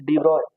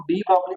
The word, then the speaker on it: de Broglie: लोग डी ब्रॉगली पढ़ते हैं, लेकिन एक्चुअल में जो प्रोनाउंसिएशन होता है इसका, एक्चुअल प्रोनाउंसिएशन, एक्चुअल प्रोनाउंसिएशन वो क्या होता है, डी ब्रॉय, डी ब्रॉय, डी ब्रॉगली को डी ब्रॉय बोलते हैं, ठीक है।